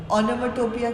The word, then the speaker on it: onomatopoeia: ओनोमाटोपोइया। पोइया अगर बोलते नहीं है हम, ओनोमाटोपिया बोलते हैं, बट इसकी प्रोनाउंस मतलब स्पेलिंग्स याद करने के लिए पोइया बोलो, POEIA, ठीक है? Otherwise it इज ओनोमाटोपिया।